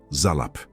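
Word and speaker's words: zalaph: Em hebraico, a palavra é zalap. Escute a pronúncia.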